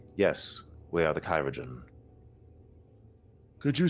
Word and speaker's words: chirurgeon: "Yes, we are the Kyrogen." Could you spell that for me? Yes. Let me pull it up myself. Just for my own edification. CHIRURGEON. "Oh, like the old form of surgeon."